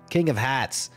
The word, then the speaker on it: King of Hats: my actual name but I have to say it like I'm from Brooklyn king of hats so that way everyone thinks that I'm saying like King of Hearts but I'm not I'm